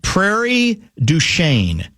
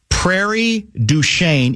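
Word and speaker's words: Prairie du Chien: Um uh it's pronounced Prairie Duchain. Prairie Duchain.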